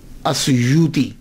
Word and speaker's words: السیوطی: باتیں قابل غور ہیں۔ پہلی بات تو یہ ہے کہ اکثر الف چھوڑ جاتے ہیں، سیوطی کے علامہ جلال